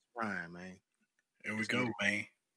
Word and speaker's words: Ryan: And we're gonna spell it RHINE, because that's how people say it anyway down here in the South, coming from Houston, Texas. Mm-hmm. So it's Ryan, man.